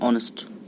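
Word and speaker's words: honest: एच ओ यू नहीं ऑनेस्ट बट H remain silent. Here we can read it and pronounce it एन ऑनेस्ट.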